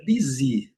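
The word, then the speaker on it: busy: vai ser a palavra bizi. Pronúncia bem simples também, dando um destaque. É, a primeira sílaba é a forte, mas um destaque pro Y que pronuncia como i, né?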